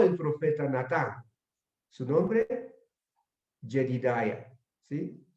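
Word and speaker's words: ידידיה: Y el nombre que le dio el profeta fue Jedidiah, como se pronuncia en hebreo, que significa amado de Yahvé o amado de Jehová o amado de Dios.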